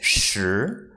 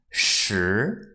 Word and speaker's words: 时: this character mean it means time and the pronunciation is sure sure sure second tone if you have watched uncle